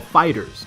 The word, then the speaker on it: FighterZ: characters for Dragon Ball fighters that's right it's pronounced fighters not fighters Z not fighters ed or fighters zebra fighters furthermore I noticed